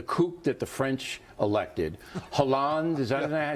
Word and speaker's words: Hollande: In the Talking Points memo, I said that the coup that the French elected, Hollande, is that how you say his name?